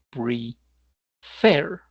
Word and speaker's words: prefer: Ejemplo, el verbo preferir se pronuncia pre fair. No es prefer, eso no es, sino preferir. Como el acento va en la última sílaba, por eso la última consonante se duplica.